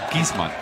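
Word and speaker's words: Giessmann: the jump hook and if I'm saying his last name wrong correct me could be Gman huh gizman it's gizman in German gizman I would say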